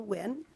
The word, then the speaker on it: Nguyen: My name is Wynn. That's spelled Nguyen, and I'm an attorney at the Department of Natural Resources.